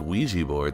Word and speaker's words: Ouija: Because I guess like Ouija board, that's spelled Ouiji, right? It's like that's not O, that's we.